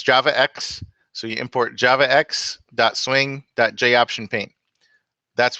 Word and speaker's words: javax: You pronounce this as JavaX.